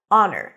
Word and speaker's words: honor: cup a great honor honor no h Oz and father honor